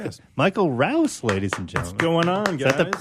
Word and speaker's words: Rouse: lot of people say Roush for some reason the route never understood where the H comes from at the end vanishing Rob see buddy